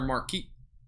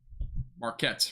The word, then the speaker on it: Marquette: mine area that's near Marquis or market so Marquette Marquette that's what it is I haven't really